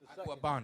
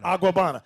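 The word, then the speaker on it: Agüeybaná: How you pronounce it? Aguabana. Aguabana.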